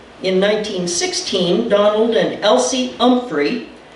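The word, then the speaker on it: Humphrey: In 1916, Donald and Elsie Umphrey pronounced with a silent H, spelled H U M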